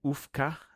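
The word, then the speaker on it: majówka: Okay, so the J is like... Oh, yes, the W is like a V.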